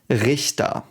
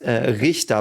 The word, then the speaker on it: Richter: Richter. CH is so it's pronounced a bit weirdly. But Richter, man, I was really,